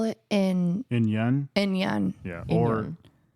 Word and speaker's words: In-Yun: In Yun?